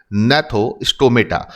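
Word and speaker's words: Gnathostomata: और जब भी आप ये नाम पढ़ेंगे तो इसमें जी जो है उसको साइलेंट रखना है आपको, यानी कि यहां पर जो जी आपको दिख रहा है उसको आप साइलेंट रखेंगे एंड इसको हम पढ़ेंगे नैथोस्टोमेटा।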